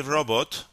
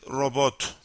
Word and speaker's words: robot: mistake while reading this in English you say robot but in Turkish actually the intonation is different so you should be careful about it it is robot so the stress is on the the second syllable robot charge capacity regulator